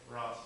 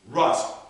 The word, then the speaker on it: Ross: all right so you are what's your name Ross Russ r u SS is that good with an O sorry I didn't pronounce it say with an o oh okay